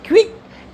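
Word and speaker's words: quick: आई सी के क्यू के बाद यू आता है तो उसका प्रोनंसिएशन जो होता है ना क्विक एक साथ ही रहेगा कभी भी क्यू ना हमेशा एक साथ प्रोनाउंस होगा क्यू के साथ यू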